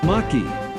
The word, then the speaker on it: Maquis: Maquis is pronounced in French.